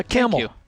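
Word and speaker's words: Kamel: means a lot yeah camel thank you by the way tell people how it's spelled if they're new to you it's with a k k-a-m-e-l like the animal and i will say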